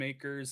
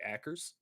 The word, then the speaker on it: Akers: Apparently Tim Akers is surprised that you pronounced his last name right. And apparently, usually people say Ackers.